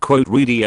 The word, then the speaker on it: Riedel: sommelier, and he says it's pronounced really like needle.